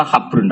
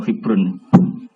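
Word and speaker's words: حبر: Ada habrun rata-rata di syarat itu bacanya habrun. Tapi yo ono wae kiai sing bali maca hibrun.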